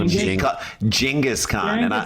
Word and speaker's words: Genghis: Genghis is actually the right way to say it in his defense.